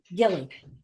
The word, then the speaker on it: Gille: Lee, do we pronounce his last name Gille or Gil? Yes, Gille.